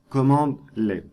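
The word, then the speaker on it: cmdlet: suivent la même syntaxe les commandes powerersell se nomment CMD let et on les prononce commande let sachez que vous avez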